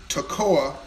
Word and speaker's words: Toccoa: of the town properly it is Toccoa TOC Co a look that up to KOA Georgia I didn't know anything about this small town but get this Toccoa Georgia was founded at